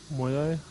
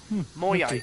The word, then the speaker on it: Moyai: Ah, thank you for the pronunciation. Moyai? Moyai.